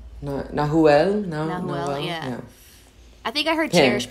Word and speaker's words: Nahuel: And now, I can now pronounce, it's Nahuel. Nahuel.